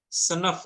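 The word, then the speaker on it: sınıf: Bacanya Ih, karena senefa. ini gak ada titiknya. Senef.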